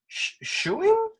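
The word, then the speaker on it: Schoening: did you and now I'm gonna try to pronounce um the Ghostbusters artist Dan shoing is that correct shing shing shing yeah so when did you guys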